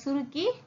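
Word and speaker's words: SAARC: இல்லையா அப்ரிவேஷன் அப்படின்னு சொல்லிட்டு அதுதான் அந்த எஸ் ஏ ஆர் சி அப்படிங்கிற அந்த அந்த பெரிய எக்ஸ்பான்ஷனை நம்ம சுருக்கி ஒரு புது வார்த்தையை அக்ரானிமா நம்ம அதை உச்சரிக்கிறோம் அதான் சார்க் south Asian association for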